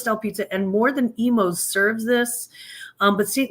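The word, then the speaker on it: Imo's: would be the offerings of Emos Pizza it's pronounced Emos not imos um and it's uh the pizza is uh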